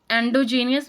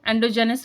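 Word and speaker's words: endogenous: Then एंडोजेनियस variable, इनको एंडोजेनस भी variable भी बोलते हैं और एंडोजेनियस वेरिएबल भी बोलते हैं, ठीक है, अपनी अपनी प्रोनाउंसिएशन है सबकी।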